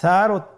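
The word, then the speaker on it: ث: সা হরফটি বারিক মানে পাতলা করে উচ্চারণ করতে হবে। তাহলে আমরা এখন সায়ের মাখরাজ লক্ষ্য করি। সায়ের মাখরাজ কোন জায়গা থেকে? স্ক্রিনে দেখা যাচ্ছে। সা হরফটির মাখরাজ হলো উচ্চারণের স্থান জিহ্বার আগা সামনের উপরের 2 দাঁতের আগার সঙ্গে লাগিয়ে উচ্চারিত হয়।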